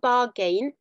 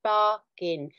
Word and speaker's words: bargain: bargain and I am drawing your attention to the pronunciation of the word bargain it's not bargain it's not barging it's bargain so if you are